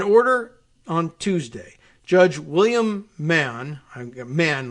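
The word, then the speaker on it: Mahon: on Tuesday judge William Mann a man like Mahan m-a-h-o-n which very often is pronounced man judge William Mann said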